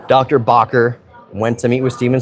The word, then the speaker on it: Bakker: contributing curator, Bob Barker, not Bob Barker, sorry, Bakker, however you want to pronounce it, Bakker, worked with the Houston Museum of Natural Science.